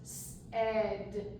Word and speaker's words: said: to explain to them you have to remember this a I together says the f sound and the word becomes said said okay and then we